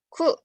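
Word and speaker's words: く: Ku. Cara bacanya ku ya. Nah, terus ini kalau misalnya dikasih dakuteng, maka cara bacanya jadi gu. Jadi kalau ini aja, ku.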